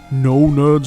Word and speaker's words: Gno Gnerds: And until next time, don't forget, the G is silent.